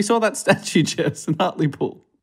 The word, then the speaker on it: Hartlepool: Remember we saw that statue, Jess, in Hartlepool. It's actually pronounced Hartlepool.